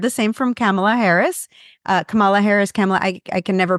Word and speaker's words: Kamala: Listen, I'm Hispanic and the way it's pronounced in Spanish would be Kamala. And so I kind of go down that route.